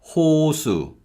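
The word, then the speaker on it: 호수: and this means lake in the first syllable we use the hear and the vowel o so it's ho ho and in the second syllable we use shiod with a vowel the next word is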